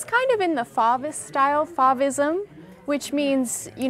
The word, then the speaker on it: Fauvist: Fauvist, that's how you say it? Yes, Fauvist.